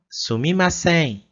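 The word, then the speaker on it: すみません: Elas falam sumimasen.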